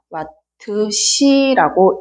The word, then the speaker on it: 와트시: 소비 전력은 와트 단위를 쓰고 시간은 아워니까 단위를 이렇게 전력량의 단위를 이렇게 와트 곱하기 H 읽을 때는 와트시라고 읽으면 됩니다.